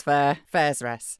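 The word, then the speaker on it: Faerûn: guide has forsaken us Fair as in bus Fair fa rest lathander rhymes with a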